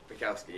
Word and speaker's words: Bukowski: Did I pronounce that right? Bukowski. Bukowski? Bukowski, yeah.